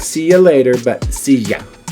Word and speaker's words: silla: As you see, it has that double L, the ya sound. Now, if you go to certain countries like Argentina, they'll say silla. They'll have a j sound for ya. So it just depends on the dialect where you go. So silla. And in Spain, it might go thia.